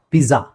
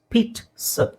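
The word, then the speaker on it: pizza: ಬಹಳ ಜನ ಮಿಸ್ ಮಾಡೋದು ಪಿಜ್ಜಾ ಪಿಜಾ ಪಿಜಾ ಅಲ್ಲ ಇಟ್ಸ್ ಪೀಟ್ ಸ ಪೀಟ್ ಸ ಆ ಅಂತ ಹೇಳೋ ಅವಶ್ಯಕತೆ ಇಲ್ಲ ಪೀಟ್ ಇಲ್ಲಿ ಟಿ ಇದೆ ನೋಡಿ ಇಂಗ್ಲಿಷ್ ಅಲ್ಲಿ ಪೀಟ್ ಸ ಅಲ್ಲ ಸ ಪೀಟ್ ಸ ಆ I feel like eating a ಪೀಸ್ಟ್ ನೌ ಆರ್ I want Pitt's now Pitt's Pitt's ಅಲ್ಲಿ ನೀವು ಕೇಳಬಹುದು ಟಿ ಇಲ್ವಲ್ಲ ಮತ್ತೆ ಕೆಲವು ಕಡೆ zಡ್ ಬಂದಾಗ ಟಿ ಆಗುತ್ತೆ ಇಂಗ್ಲಿಷ್ ಅಲ್ಲಿ. ಸೊ ಅಲ್ಲಿ ಟಿ ಇಲ್ಲ ಅದನ್ನ ಪೀಟ್ ಅಂತಾನೆ ಹೇಳಬೇಕು ಬಿಕಾಸ್ ಇಟ್ಸ್ ಇಟಾಲಿಯನ್ ವರ್ಡ್ ಹಾಗಾಗಿ ನೆಕ್ಸ್ಟ್ ಓಎನ್ಐಓಎನ್ ಅಂದ್ರೆ ಈರುಳ್ಳಿ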